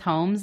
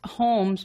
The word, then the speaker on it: Holmes: like Psychopaths well it's Holmes but it's like Holmes you don't pronounce the L how would you like